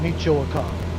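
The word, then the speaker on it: Michoacán: diversity okay he said tell us more about Michoacan that's how you pronounce it Michoacan is a state in West Central Mexico with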